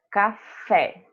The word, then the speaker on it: café: Café. A gente fala o fé mais demorado.